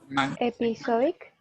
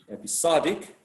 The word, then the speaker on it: episodic: two words ending in ic how do you pronounce these words and where do you place a stress episodic and the stress is and the thirsty level